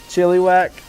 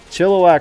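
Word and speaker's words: Chilliwack: what it was chili whack chill whack chillak is probably the the native pronunciation of it but I I pronounce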